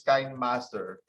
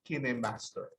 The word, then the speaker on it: KineMaster: with kini master no others pronounce this kind master others pronounce the skinny masters but the developer of this app pronounce it kim master so i will share